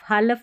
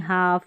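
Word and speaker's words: half: भी में रहता है, इसको कालफ नहीं काफ, हालफ नहीं हाफ, यौलक नहीं यौक, फौलक नहीं फॉक, सभी में है कॉम्बिनेशन।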